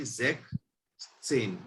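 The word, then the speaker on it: sechzehn: 16 की प्रोनाउंसिएशन होगी हमारी जेक सेन।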